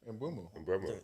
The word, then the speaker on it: Mbeumo: Mbeumo.